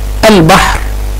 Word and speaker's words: البحر: كلمة البحر نطقت اللام، نطقت اللام، اذا هي لام ايه؟ قمرية. اذا هي لام قمرية.